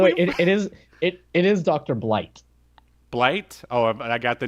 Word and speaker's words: Blight: Blight? Oh, I got the name wrong. Yeah. Okay, all right. Yeah, Blight.